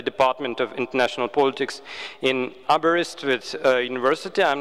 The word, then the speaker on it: Aberystwyth: you did quite well it's pronounced abreast and outsiders usually struggle it's a welsh name and it is